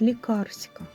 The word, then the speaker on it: лікарська: а книжним буває стиль це лікарська рослина правильно і Саме цей наголос лікарська це нижня білизна неправильно